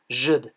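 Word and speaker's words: djed: the bottom of this stone column, pronounced zhd.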